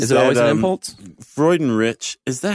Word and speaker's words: Freudenrich: No, it's Freundlich, isn't it? No. I thought it was Craig Freundlich. No, there's no L.